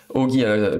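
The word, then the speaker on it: Ōgi: Donc là, Ogi, ça prononce O, bien sûr. Vous pouvez l'écrire comme ça, ou avec un chapeau circonflexe.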